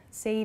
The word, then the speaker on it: said: Said is not correct, so please use said. It sounds like S-E-D, the pronunciation, but it's said.